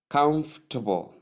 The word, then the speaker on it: comfortable: are softened then tip the correct way sounds more like comfortable you get that comfortable you get that so it's as though we don't pronounce much of the second syllable but we do. That's how you pronounce comfortable.